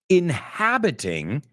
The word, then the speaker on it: inhabiting: Inhabiting, habitar, we say inhabit. It's interesting porque pronunciamos la H también. Inhabiting our planet.